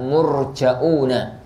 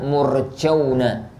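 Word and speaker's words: مرجؤون: dengan tidak ada Hamzah kalau murni kalau ada Hamzah maka bacanya murja'un Kalau tidak ada Hamzah maka bacanya murceuna ini dan meninggalkan Hamzah Maksudnya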